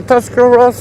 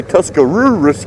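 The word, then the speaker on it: Tuscarawas: County you like a tusar Ross County do you some people say tusar rurus County but it's actually tusar Ros County and it doesn't matter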